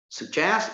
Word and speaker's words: suggest: Suggest is a verb, so it is stressed on the second syllable.